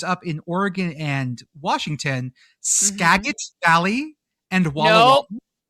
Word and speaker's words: Skagit: In the inwak, which is community colleges up in Oregon and Washington, Skagit Valley and Wall Skagot?